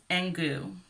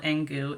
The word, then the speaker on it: Engoo: so let's start with engu i think it's called engu it's spelled e-n-g-o-o put it over here and goo i sound really texan